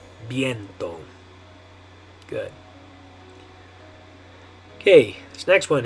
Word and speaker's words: viento: And the way you're going to say it in Spanish is viento. Viento. Viento. Okay, so in English we'd probably say viento or something like that. But in Spanish you're going to say viento.